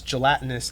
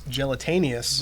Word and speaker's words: gelatinous: of my first streams I I pronounce gelatinous as gelataneous right right because I did